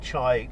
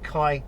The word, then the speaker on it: chi: have here Rob suggesting that something called the chai is actually pronounced Kai Square uh is used to uh determine who